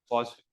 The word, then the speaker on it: Poisson: So we'll go with the Indian diction, Poisson. This is actual pronunciation, okay. Poisson. Okay, this is how it is pronounced.